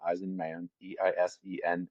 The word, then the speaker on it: Eisenman: I guess you have to spell it in that case, but it's like Eisenhower, but Eisenman, Eisenman Guitars.